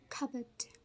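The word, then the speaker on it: cupboard: plates and balls but in this word the p is silent we don't say kort Cort for but we say it is CET cupet so be careful while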